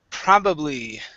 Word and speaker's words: probably: first word here is probably probably try that okay nice nice and strong pro stressed at the very beginning instead of probably it's